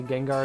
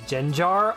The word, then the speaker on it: Gengar: Never cared about pronunciation. I'll say Gengar is Genjar.